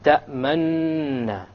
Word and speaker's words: تَأْمَنَّا: لَا تَأْمَنَّا عَلَى يُوسُفَ تَأْمَنَّا. It's as if I'm doing a dhamma. تَأْمَنَّا. But I didn't do a dhamma. You just show it with your lips and you don't actually pronounce anything. Now the reason this is